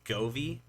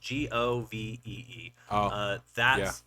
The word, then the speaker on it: Govee: But if you're going to get there's a brand out there, it's called, I think it's Govee is how it's pronounced, Govee.